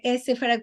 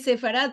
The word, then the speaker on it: Sefarad: Yo sé que muchos pronuncian Sefarad como Sefarad, como el modo a los Estados Unidos, para nosotros es Sefarad todo en junto, con la E.